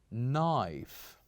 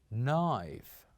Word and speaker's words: knife: other word which is knife knife say after me knife so it is important that you know yes we do write the letter K but we don't pronounce it we only write the